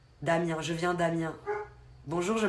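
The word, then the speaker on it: Amiens: à Macron directement pasamien on dit pas le S d'après ce que j'ai compris Damien je viens d'Amien bonjour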